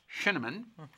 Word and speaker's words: Scheneman: SCHENEMAN. I pronounced it right, didn't I? It's like cinnamon.